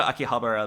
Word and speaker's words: Akihabara: Oh, I'm gonna go to Akihabara though. I don't know if that's how you pronounce it.